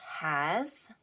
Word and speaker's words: has: Okay, learners, 注意 in the word has, 我们只听到 z，可是这里是 s 的字母，不是 z 的字母。注意平时 o 会有 r 像 o octopus r 的发音，可是 in the word so o 有 o 的发音。Okay, so learners, let's continue.